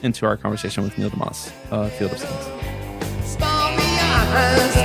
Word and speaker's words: deMause: now pleased to be joined by Neil deMause, like deMause on the trees and the rocks, as he instructed us how to pronounce it.